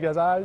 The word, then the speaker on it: Ghazal: Je suis avec Michael Gazal. C'est bien comme ça qu'on prononce? Absolument, oui.